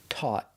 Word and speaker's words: taught: We're using the aw sound, like ball and call, and we finish with a stop t.